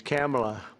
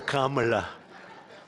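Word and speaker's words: Kamla: It's Cam right? Cam as opposed to Com.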